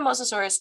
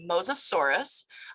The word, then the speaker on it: Mosasaurus: so how did the mososaurus get its name well the it's pronounced mosasaurus and their name comes